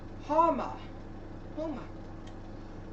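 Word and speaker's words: Houma: Homa.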